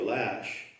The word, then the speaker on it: Loesch: they have her name, Wikipedia usually has in brackets the pronunciation of something. It gives you the pronunciation of her name in the traditional, the standard notation, and then it has in capital letters Lash.